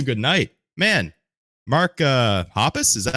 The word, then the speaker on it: Hoppus: Man, Mark uh Hoppus? Is that how you say his name, Jason? is, yeah. Okay, Mark Hoppus.